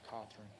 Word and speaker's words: Cothran: Last name is pronounced Cawthorn.